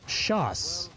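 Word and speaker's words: chausses: Oh, it's actually pronounced Shoss.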